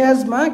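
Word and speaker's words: asthma: spelling এর ক্ষেত্রে যেমন এজমা উচ্চারণটা হচ্ছে এজমা কিন্তু বানানটা হচ্ছে এসটি এইচ এম হ্যা এসথমাসমা আপনি স্পেলিং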